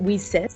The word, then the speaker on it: WiCyS: our acronym w-i-c-y-s and we pronounce it we sis like we sisters because we're a global